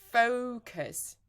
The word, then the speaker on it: focus: right now this one it's a problem for Focus so I see many people saying uh I see many different ways of pronouncing this word but there is only one